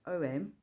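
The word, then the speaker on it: AUM: how um when you're it's three syllables a-u-m so some say it's om but I liked his free syllable explanation of um a-u-m so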